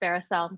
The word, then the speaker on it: Veracelle: my name is pronounced varicel just like duracell and when i say